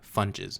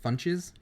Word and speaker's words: Funches: Funches. Funches. Yeah. Like, I'm going to go get me some Funches and in a snack bag.